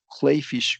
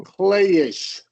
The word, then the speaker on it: clayish: And then suddenly waking up pressed into the cold clayfish ground with my mother sobbing over me. Okay, there's one vowel combination. You said clayfish, Oh, clayish. oh, clayish.